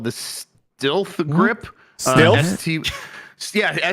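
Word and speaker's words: Stylth: satisfy it's called the steth grip yeah St y l t h steth I'm sure they want you to pronounce that stealth I think I'm sure they do and yet I'm GNA say steth okay so this is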